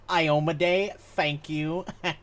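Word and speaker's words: Iomedae: There is a temple to Imode there. Someone might be able to help you. I God, appreciate just it. for a little clarification, it's pronounced Iomade.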